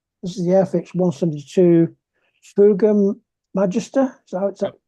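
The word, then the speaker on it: Fouga Magister: This is the Airfix 172 Fuga Magister. Is that Yep.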